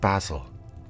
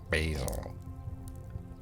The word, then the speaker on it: basil: There's coriander instead of cilantro, rocket instead of arugula, and basil instead of basil.